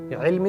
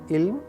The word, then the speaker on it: ilm: Ilm is knowledge. Now there is a difference between the sounds alif and ayn. It's not ilm, it's ayn. Ilm. This is the actual sound. This is the pronunciation.